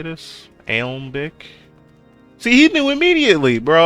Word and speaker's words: Alembic: Aimblick. Or Alembic? How do you say this? Alembic?